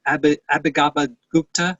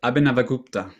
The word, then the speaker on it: Abhinavagupta: I think Abhigabha Gupta, how do you pronounce that, Marco? You know how to. Abhinavagupta.